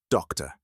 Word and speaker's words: doctor: When the whole word is pronounced, that second syllable doesn't sound like to anymore.